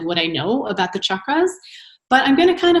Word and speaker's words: chakras: And just so you know, it's not chakras, it's chakras. So if anyone asks you, it's really the pronunciation is chakras.